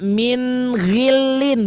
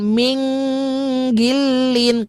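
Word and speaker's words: مِنْ غِلٍّ: Terus sama juga ini ya, min ghillin, bukan min gilin.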